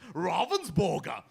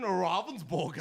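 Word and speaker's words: Ravensburger: I'm told to pronounced robens Borger is how it's pronounced so so so is that is that how you pronounce it yes it is that's the proper German pronunciation Robin Borger so it's that easy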